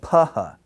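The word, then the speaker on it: φ: Then we have taha, which is like our th in pothole, and the other is peephole, paha.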